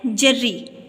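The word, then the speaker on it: جرّی: ہے۔ پہلا لفظ ہے جرری۔ جرری کا معنی دلیر، ہم نے پڑھا تھا۔ جیم کے اوپر زبر، رے کے اوپر شد اور نیچے زیر، تو لفظ بن گیا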